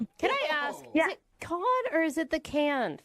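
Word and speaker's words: Cannes: Yeah, it's can.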